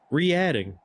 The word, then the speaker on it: Reading: It's pronounced like re-add. Re-adding.